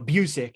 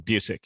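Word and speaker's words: Busiek: on Twitter and Kurt buik uh buic how how do you say his last name you got right the second time Buck yeah Buck he he [ __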